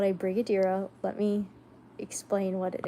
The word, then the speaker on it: Brigadeiro: it's called a brigo it is called a Brigadeiro let me explain what it is dessert Brig it looks like it's spelled like brigio what is brigo daro maybe